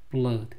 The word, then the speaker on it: blood: blood 피 영어는 오가 두번 나오면 보통 우 발음 나오는데요 blood나 flood 홍수죠 이런 단어들은 어 소리가 납니다 blood 피에 피자국이 묻어